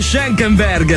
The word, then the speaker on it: Schenkenberg: ker SCH come cazzo si chiama si dice schenkenberg Marcus schenkenberg ma mica ci andrei per quello